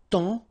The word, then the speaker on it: temps: And then temps, okay, so in that case, it's only the nasal here that you will hear, temps, okay, because the P is not pronounced and the S is not pronounced.